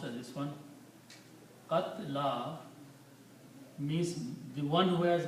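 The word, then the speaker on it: قتلى: And qatla, which is pronounced as this one, qatla means the one who has been killed, the one who has been murdered.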